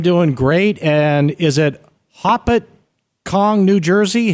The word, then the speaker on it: Hopatcong: you well I'm doing great and is it poppet Kong New Jersey how do you pronounce it we pronounce it Hopatcong hopatcong all I know is that you mentioned